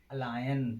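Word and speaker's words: align: नियम नंबर 3 क्या कहता है, जब किसी वर्ड में जी के तुरंत बाद एन आता है तो जी का उच्चारण नहीं किया जाता है।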